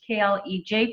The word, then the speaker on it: college: An example, college, you can shorten it up. Pledge, K-L-E-J for college.